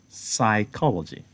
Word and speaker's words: psychology: So there is then the case of silent P again, as in what? Psychology. Psychology. The initial sound is letter P, but the P sound there is silent.